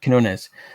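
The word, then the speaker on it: Quinones: art would be by joe how do you pronounce that last name uh he's known as kinones um so the fact that sam ham is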